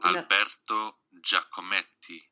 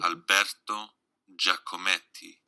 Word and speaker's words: Alberto Giacometti: So if you want to learn how to pronounce things, so Alberto Giacometti. I say Giacometti. Alberto Giacometti.